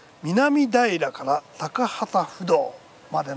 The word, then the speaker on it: 南平: え京王線の南平から高畑不道までの一駅なんですこれ南平と書いて南平と読むんですねどのくらい